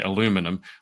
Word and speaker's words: aluminum: and she's allergic to well I say aluminium I say aluminium you you you Americans say aluminum we can we can